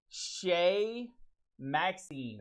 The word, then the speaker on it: Chez Maxime: once again please save me what is it shay maxine there it is shane maxim and we talked about this this way we